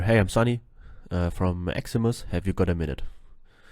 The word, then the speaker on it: Ximus: put in there hey I'm Sunny uh from eximus have you got a minute by the way if you if you're wondering why always write eximus with an E if I write it without